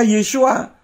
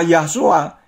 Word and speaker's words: Yeshua: Kalau hurufnya nama Sang Juru Selamat terdiri dari rangkaian huruf Yod, Sin, Waw, Ayin, bagaimana mungkin bisa dibaca Yahshua? Tentu membacanya Yeshua.